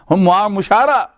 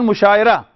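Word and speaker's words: مشاعرہ: Muamala, musha'ara, mushara. You know, from here you come to the like pronunciation of, it's not mushaira. Mushara, muamala, muzakara, muhasaba, mujadala, mulazmat.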